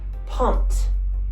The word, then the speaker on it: pumped: So we're going to add ed to it and it will be pumped. Okay?